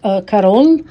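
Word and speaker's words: Carolle: dual terrific are called carol which is spelled like Carol but Double L and e at the end Carol these two are Chanel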